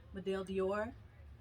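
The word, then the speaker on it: médaille d'or: near and dear to me um is it's pronounced madele dior um it's french for gold medal this is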